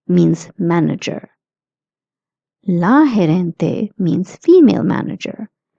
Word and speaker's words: gerente: El gerente, means manager. La gerente means female manager. GE, I would like to repeat, is pronounced as he.